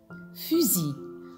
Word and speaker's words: fusil: Alors, la lettre S placée entre deux voyelles, ça se prononce Z. Maintenant les enfants, on passe au mot fusil. Fusil.